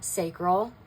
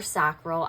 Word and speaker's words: sacral: Second chakra, sacral or sacral. I've heard it pronounced both ways.